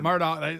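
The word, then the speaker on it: Murdaugh: Motors the southern states I've seen one murder Murdock they pronounce it Murdock but it looks like Murdoch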